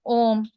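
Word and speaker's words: ॐ: ज आपको बोलते हैं ओम बोलिए तो अ ओ म बोलिए आप अपने ना भी से प्रोनाउंस करना शुरू करेंगे और मुंह तक लाएंगे तो सारे अक्षर एक तो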